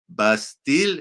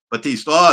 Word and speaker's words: Battiste: very special guest is rob bastille is that how you say it did you say batista sorry i didn't check the